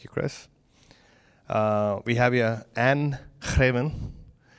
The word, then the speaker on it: Greven: We have here Anne Greven. Wanted to make sure you got the Dutch pronunciation right. Was that close? Yeah, that was very good.